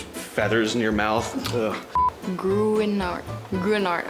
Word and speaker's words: Gruinard: Gruinard. I think I have to say it like a Scottish person would. Gruinard.